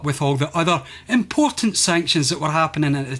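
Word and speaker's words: Sanxion: the game is pronounced sanction but look at the word itself it is spelt with an x in the middle now there's two reasons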